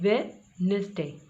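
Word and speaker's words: Wednesday: पढ़ा नहीं जाएगा, डायरेक्ट वेडनेसडे।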